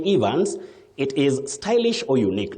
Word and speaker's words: Evans: Is it Evans or Evans? I made text to Saizi as you were going on through the words. You simply say Evans.